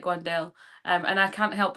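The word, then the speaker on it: Wan'Dale: I like Wandelle. Um, and I can't help but say Wendell Robinson again. It's a it's a pronunciation thing.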